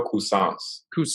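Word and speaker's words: Cuisance: of who's that guy croissance how do you pronounce it for you guys uh mikhail cousins yeah yeah yeah like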